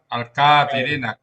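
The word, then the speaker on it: كافرين: Kafirin itu k-nya pakai alif tapi panjang juga. Iya itu double itu. Pakai alif atau kalau gitu Pakwan kalau begitu pendek. Ustaz kalau tambah al baru panjang seperti itu. Iya. Tulis sesuai Quran ajawan alkafirin tambah alif tapi k-nya panjang berdiri tegak ke akad itu bikinnya enggak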